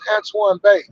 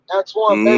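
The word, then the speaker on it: Antoine Bey: Wherever you listen to music, all you gotta do is type in my name, which is Antoine Bay. Antoine Bay Mm, is spelled Antoine, and Bay is Bey.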